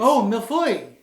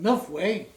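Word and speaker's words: mille-feuille: So it's Milfoy. You did not pronounce it correctly. Stupid English. It's not pronounced Milf way.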